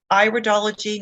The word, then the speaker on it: iridology: and it is pronounced iridology not iridology it's not your ear we're studying it's the iris and so when we